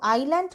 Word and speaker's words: island: এখানে দেখো আইল্যান্ড কথাটা তোমাদের কাছে নতুন। এই ওয়ার্ডটার প্রোনাউন্সিয়েশন এবং মিনিংটা জেনে নেওয়া যাক। প্রোনাউন্সিয়েশন হচ্ছে আই ল্যান্ড, এখানে এসটা হচ্ছে সাইলেন্ট, এসের উচ্চারণ নেই।